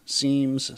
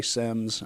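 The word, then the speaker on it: SIEM: I say SIMS. I've I've heard people say either or.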